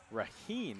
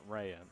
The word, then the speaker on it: Raheen: of Charleston Catholic Sarah raheen is how you pronounce that last name not what I have been saying the entire night and rayan so I apologize to